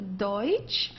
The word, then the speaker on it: Deutsch: Okay, don't confuse it with Dutch. This is not Dutch, it's a Deutsch.